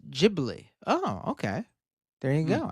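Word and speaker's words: Ghibli: with a super chat in Japan gibli is pronounced as jibli oh okay there you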